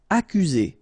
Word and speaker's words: accuser: Accuser. You don't need to pronounce double C here, because normally we only pronounce this K.